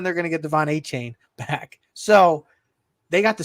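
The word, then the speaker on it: Achane: They're going to get Devon A-Chain, like he likes to be pronounced, is coming back in a few weeks.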